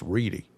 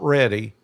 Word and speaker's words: Reedy: You got to say it like that. It's Reedy. It's not ready.